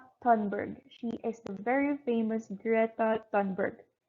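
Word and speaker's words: Greta Thunberg: is a very famous greta dunberg in swedish i think it is pronounced i hope i stay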